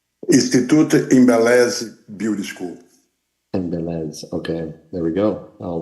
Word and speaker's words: Ines: clarification Could you um uh provide the proper pronunciation of the school's name Institute Ines Beauty School Ines okay there we go I'll remember that thank